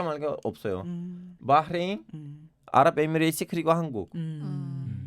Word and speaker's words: 바레인: 바흐레인, 아랍에미레이트 그리고 한국. 이 나라들 너무 빠르게 시작했고. 바레인? 예, 바레인. 아, 바레인요. 미안해 네. 그 현지 발음이 바흐레인인데 한국식이라고 하시는 거예요. 바레인인데 바흐레인 네.